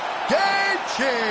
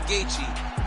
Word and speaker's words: Gaethje: be impressed with Justin Gaethje and all the skill that he showed today. No doubt. And Bob, don't get sensitive. We all know the J in Gaethje is silent.